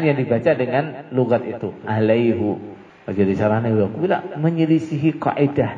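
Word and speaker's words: عليه: Waman dan barang siapa aufa yang menetapi dia bima dengan apa-apa ahada yang berjanji dia alaihu. Nah, biasanya alaihi, tapi satu kalimat ini dalam Quran bacanya alaihu.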